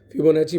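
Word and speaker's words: Fibonacci: फिबोनाची पढ़ा करिए, that is the correct pronunciation.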